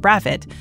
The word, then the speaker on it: Brathwaite: In the British West Indies, the surname Brathwaite, which is often pronounced Bravit, is a very common name.